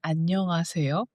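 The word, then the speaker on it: 안녕하세요: Annyeonghaseyo. Annyeonghaseyo. Annyeonghaseyo. Annyeonghaseyo. So, so annyeonghaseyo. Exactly. But, again, important to mumble. And then, make the last syllable longer.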